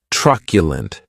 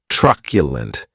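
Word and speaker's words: truculent: The next adjective is tculent and this word has three syllables and the stress is on that first syllable.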